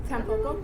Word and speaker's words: Tanpopo: Tanpopo.